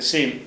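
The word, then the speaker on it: سين: அப்படிங்கிறதுனால அந்த அந்த சீன்ங்கிறது எதுக்குரியது என்று கேட்டால் பசை பசைன்னு சொல்றீங்கல்ல பசி. பசின்னு சொல்றீங்க சீ சொல்றீங்க அது பச்சின்னு சொல்ல மாட்டீங்கல அந்த மாதிரி உள்ள உச்சரிப்புக்கு எது வரும்? இந்த சீன்ங்கிற உச்சரிப்பு வரும். இதுக்கு அரபிலயும் அதான் பேரு உருதுலயும் அதான் பேரு சீன்.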